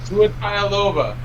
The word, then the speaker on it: Tagovailoa: If it was King Tonga, he'd kick their asses for saying the name wrong. True. Tua Tagovailoa.